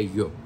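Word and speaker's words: Joop!: que o jop rosa o yope pronúncia yope tá ã Rosa do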